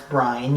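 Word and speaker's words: Brion: And the other prince, Prince Brian, yes, I'm calling it Brian, even though it's kind of awkward for me to say Brian, but that's how you say it.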